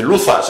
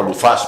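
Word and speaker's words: Luzás: Porque hay gente que dice, Luzas, ¿este pueblo cómo se llama? Luzas. Pues no, Luzas, porque lleva acento en la A.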